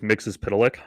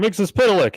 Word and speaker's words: Mxyzptlk: The one that I know, because that show introduced me to it, was Mxyzptlk. Okay. And, well, here's why I remember. Because when he shows up, he says, "I'm Mr. Mxyzptlk," and Superman's like, "Mr.